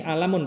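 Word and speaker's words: عَلَم: Nama ini alamun bacanya ya, bukan ilmun.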